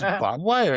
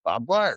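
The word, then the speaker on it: barbed wire: Bob, dude, that's how you say it in Idaho is Bob Wire. And yes, I know it's spelled B A R D, but it's pronounced Bob Wire.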